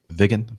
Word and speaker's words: Viggen: Is that the way you pronounce that? You're muted. Yes, Jeff, that's exactly right. Viggen, thank you.